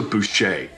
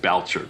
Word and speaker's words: Boucher: But about a year ago, I started following this woman, Lisa Boucher. And I just learned how to say her name because I would have said Boucher, but it's Boucher, but it's Boucher.